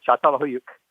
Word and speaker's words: Çatalhöyük: Thanks for pronouncing that, because I didn't know how to pronounce it. Okay, Çatalhöyük.